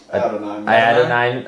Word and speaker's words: Adonai: Adonai.